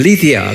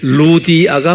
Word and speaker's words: 루디아: 어디에 16장 14절에 루디아라는 이름이 영어로는 리디아 그래요. 근데 루디아가 맞아요. 리디아는 LY인데 Y가 라틴 말로나 이태리 말로는 U라고 발음해요. 그래서 이제 구브로도 사이프러스 그러잖아요.